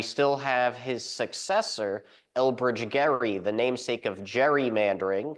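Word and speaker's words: Gerry: maybe the fact that his name isn't Elbridge Jerry it's Gary and it should actually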